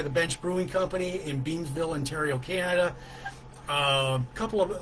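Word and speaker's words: Beamsville: out of 10 very good beer and I mispronounced their city so they're in Beansville Ontario Canada this is Short Hills it's a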